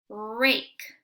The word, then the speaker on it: rake: Oh, right away I see super silent E at the end, so I know that I can't say ah, I have to say A for the long vowel. R, A, K, rake. It is a rake, like